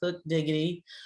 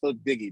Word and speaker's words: Hook Diggy: diva hustle show today we have our guest hook diggity which is an entrepreneur a music artist and